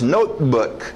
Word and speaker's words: notebook: Note, engole o T e o B não batem. 2 consoantes. Notebook.